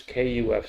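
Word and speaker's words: קוף: Here we have this KUF.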